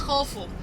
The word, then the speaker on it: Khufu: King Cheops, it's in Greek. Originally it's Khufu. King Khafre, it's Khafra, and the Greek call them Khafrens.